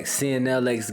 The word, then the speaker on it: CNLX: Alright, welcome back, CNLX Gaming. You already know the vibes where the X is silent.